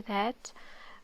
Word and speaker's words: ث: We can remember that it has 3 dots, okay, above, and also we can also remember that it's pronounced like the th in 3.